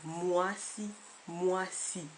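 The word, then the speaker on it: mwasi: noani un autre exemple moici hein je l'ai écrit MW a s i mais il arrive aussi qu'on l'écrive m u a s i le son est exactement pareil moi moi h donc la règle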